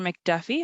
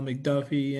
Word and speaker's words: McDuffie: I have thank you Miss Bowman uh Mr McDuffie I'm pronouncing that correctly yeah how you doing my name is McDuffie and I'm the owner operator of elevation inspections